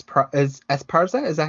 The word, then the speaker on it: Esparza: love the saxophone and s pr is esparza is that how you pronounce it yeah esparza i think as far as it does it